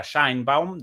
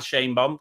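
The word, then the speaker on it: Sheinbaum: Entre las primeras, la presidenta de México, Claudia, bueno, llamada habitualmente Shainbound, en la pronunciación correcta, Shine Bound de su nombre, pero bueno, la vamos a llamar Shane Boom, como la llaman en México.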